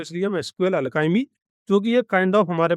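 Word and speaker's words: SQLAlchemy: तीसरा हम पैकेज लेते हैं एसक्यूएल अलकाइमी। इसका स्पेलिंग ध्यान रखना। एस क्यू एल ए एल सी एच ई एम आई।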